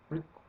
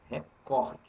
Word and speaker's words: recorde: em inglês não se fala Record fala Record Record portanto deixa el lá com a língua deles e nós com a nossa língua eles lá não tem nem acento em inglês e nós temos acento então a palavra correta é recorde tanto faz seu verbo